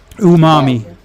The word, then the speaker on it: umami: are sensitive to it is that how you pronounce that word Umami yeah yeah some people are sensitive to pretty